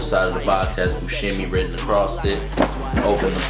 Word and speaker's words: Buscemi: not too long ago I've been pronouncing Buscemi wrong. It's actually, instead of Buscemi, it's Buscemi. So yeah, Jon Buscemi, and these are on the wheat gum colorway.